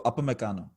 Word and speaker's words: Upamecano: it's UP, so Upamecano.